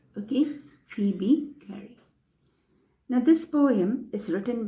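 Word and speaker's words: Phoebe Cary: gary for b gary but that o is silent so we call when we pronounce we have to pronounce it as phoebe gary okay phoebe gary now this poem is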